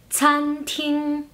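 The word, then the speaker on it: 餐厅: En ese caso, la CA no se pronuncia cantin, ¿sí? Siempre suele, los alumnos suelen hacer el mismo error con la C. Lo suelen leer como si fuera la C en español.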